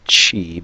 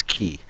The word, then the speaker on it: χ: Hearts key I know some people might be pronouncing it Chi because well that's sort of what's shown in the title but um according to the Japanese there it's a Kingdom Hearts key what I do is